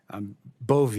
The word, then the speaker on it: Bove: It's Bove, right? Bove, Senator, like Bove, with a long I E.